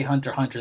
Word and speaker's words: Hunter x Hunter: a hunter x hunter so that's how it's spelled out but when the characters pronounce the title they just say hunter hunter they don't never say the X huh so I don't